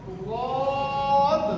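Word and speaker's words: ض: আচ্ছা, এই অক্ষরটা উচ্চারণের সময় জিহ্বার গোড়ার দিকের কিনারা দাঁতের গোড়ায় লেগে উচ্চারণ হবে ওয়াদ।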